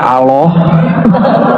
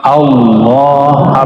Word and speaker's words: Allah: Saya orang sudah bacanya Allah. Ya, Al Allah itu bukan dia lam ketemu lam Allah harus disambung bukan mati Allah ya.